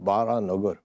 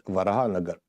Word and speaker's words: Baranagar: It's pronounced Baranagar, but it's Varahanagar.